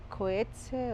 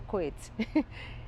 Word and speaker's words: Coetzee: literatura de john maxwell coetzee o que se bueno se pronuncia de una manera muy extraña digamos que yo digo cohetes y esa novela se